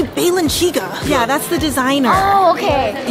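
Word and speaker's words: Balenciaga: do you well but how do you say this melon do you know baylin's Yaga you guys it's obviously Balin chica yeah that's the designer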